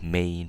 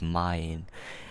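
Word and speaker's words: mein: also use it correctly not main but mine and e i in german is pronounced as a i okay you'd say mine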